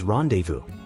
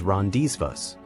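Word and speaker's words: rendezvous: one it is pronounced as rendevu usually mispronounced as risas borrowed from French randevu means a meeting or gathering often at a specific place and time the Z and S are silent following French pronunciation rules for example let's arrange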